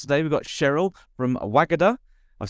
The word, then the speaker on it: Wagada: on the podcast today we've got Cheryl from wagada I've said it right this time haven't I